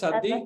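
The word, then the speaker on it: צדיק: It is the right pronunciation, صادق in Hebrew? In Hebrew it's Sadiq, yes, Sadiq.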